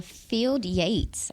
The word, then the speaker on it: Field Yates: here on Girls Talk boys talk yeah uh field Yates is that how you say it yes he